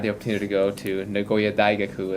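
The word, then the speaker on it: 名古屋大学: And so I had the opportunity to go to Nagoya Daigaku, is how they say it in Japanese, the university.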